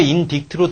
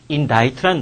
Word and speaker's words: indict: 그러니까 인딕트로 될 것 같은데 사실은 C가 묵음이야. C가 묵음이게 되기 때문에 indict라는 단어인데 어쨌든 사실 in이라는 접두사가 붙은 거 공간적으로 안쪽이라든지 얘는 공간적인 거겠지.